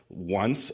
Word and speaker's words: ONCE: feel funny every time I say it on it's spelled once o nce but pronounced on and it is